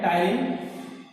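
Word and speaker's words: ptyalin: टायरिन को इंग्लिश में T silent होता है, ध्यान है, टायरिन टी इसमें जो है साइलेंट होता है।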